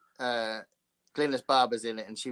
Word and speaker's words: Glynis: Glynis is Glynis. It's a Welsh name.